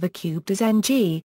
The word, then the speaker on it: Ng: of a cubed is ng a syllable made entirely of a nasal consonant while the minan transliteration